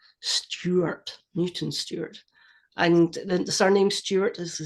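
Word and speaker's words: Newton Stewart: mutant stward uh because in Scotland we pronounce the ew like a y Stuart Newton Stuart and surname Stuart is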